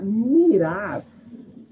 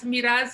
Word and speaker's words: Mirás: Miraz é mais forte, né? Miraz é espanhol. Legal, né? Tem muita gente que me chama de Miraz.